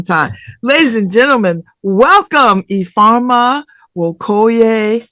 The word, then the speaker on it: Ifeoma Nwokoye: Earma Wokoy. How are you? I'm doing so well. How are you, Babs? Did I pronounce it correctly?